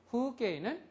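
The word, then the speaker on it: 風景: 후게이는 풍경인데 이 우음을 특별하게 모음을 후게이 이렇게 발음을 안 한다는 소리예요. 여기서는 우도 장음이고 이도 장음입니다.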